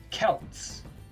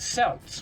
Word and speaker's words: Celts: It's pronounced Celts, with a K, not Celts, with an S. C did not make the S sound in those days, not even in Latin.